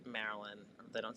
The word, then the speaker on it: Maryland: Maryland. Maryland. Merlin. How do you say it? How you say it? Maryland or Merlin?